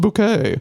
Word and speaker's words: Bucket: is the highest synth bucket, but she would go it's pronounced bouquet.